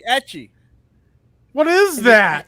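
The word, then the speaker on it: ecchi: It's not Eki. No. Oh my god, there he What do you is. mean it's not Aki? It's etchy.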